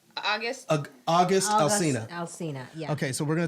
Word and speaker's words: Alcina: Alcina, yeah.